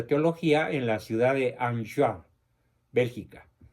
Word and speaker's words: Enghien: en la ciudad de Anjouan, Bélgica. Esta ciudad se escribe Enghien, con H intermedia. Como es francés, se pronuncia Anjouan, Bélgica, donde recibe el presbiterado.